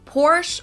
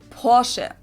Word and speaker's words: Porsche: germany here we go i've heard americans pronounce it porsche or porsche in german we say porsche so there's like this short a sound in the end yeah it was founded